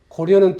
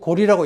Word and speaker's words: 고려: 그 다음에 고려는 틀렸고 고리라고 읽어야 된다.